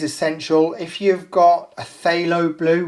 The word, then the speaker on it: phthalo: if you've got a phthalo blue which is spelt with a p silent p that will do just